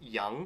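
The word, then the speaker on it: 羊: And then in the middle, they've got one specific character, which means sheep, or it's pronounced young.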